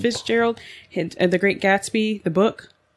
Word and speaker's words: Fitzgerald: Fitzgerald. Fitzgerald.